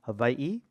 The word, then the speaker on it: Hawaii: the craft traditions of Hawaii of which pron properly pronounced havi um were uh in decline.